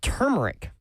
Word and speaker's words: turmeric: It's turmeric. There's an R before the M.